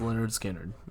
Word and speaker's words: Lynyrd Skynyrd: It's pronounced Lynyrd Skynyrd.